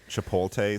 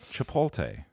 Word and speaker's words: Chipotle: weird that the, uh, the restaurant Chipotle spells their own name wrong? Like, cuz if you really pay attention to this above the door, it's TL E and it's not pronounced that way.